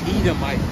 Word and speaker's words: Edomite: Edomite. How can you spell that? What is that? E-D-O-M. Right here. So say Edom. Say Edom, and then put the "ite" at the end. Edom. Yeah, Edomite.